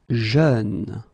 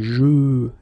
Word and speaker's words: jeune: Jeune. Same thing, you don't say je, you say jeune, okay? So it goes like peur, œuvre, jeune, okay?